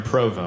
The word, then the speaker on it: Provo: I go, "Oh, I'm here in Provo." And they're like, "You said that so good." The pronunciation was perfect. Sometimes people get particular, you know?